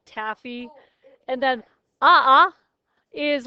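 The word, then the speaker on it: ʻaʻā: like taffy and then ah is like pointy and if you were to run across it in your bare feet you would say ah ah right a is what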